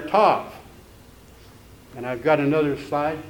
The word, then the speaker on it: Tav: There's a word that means sign, next one, and it is also called Tav, the way it's pronounced.